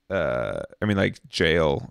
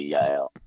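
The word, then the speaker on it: jael: Jail, right? It should be Yale.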